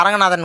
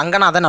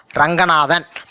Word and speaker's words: ரங்கநாதன்: ஸோ ஆங்கிறது இங்கே silent, இல்லை அரங்கநாதன் கூட படிச்சுக்கோங்க. ஆனால் பட் ரங்கநாதன் அப்படிங்கிறது தான் பேர் நம்ம ப்ரொனவுன்ஸ் பண்ணணும். ஸோ ரங்கநாதன்.